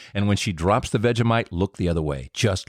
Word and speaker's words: Vegemite: Lots of butter and just like a smidge in a veite. Just like smeared just just just a tiny tiny little bit. It's fantastic. Yeah, I mispronounced it. Vegemite. Vegemite. Vegemite.